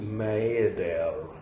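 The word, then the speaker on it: Maeder: On October 16th, 1916, he wrote to his colleague, the psychiatrist Alphonse Maedel. That's how you pronounce that.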